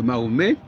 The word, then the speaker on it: Mahomet: Oui, ben Mahomet, on dit Mahomet parce qu'en français, on ne prononce pas la consonne finale, c'est tout, mais on écrit quand même le T.